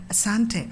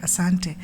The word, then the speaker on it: Asante: you B A Kenyon Airlines you would say Asante Asante so first I used to think maybe they are just not able to pronounce Om Shanti maybe Shanti it is but